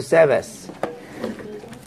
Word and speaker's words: Sabbath: Sabbath. 좀 약간 발음이 좋아.